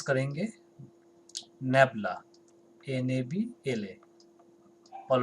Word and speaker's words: nabla: तो इसको हम लोग pronounce करेंगे nabla, N-A-B-L-A.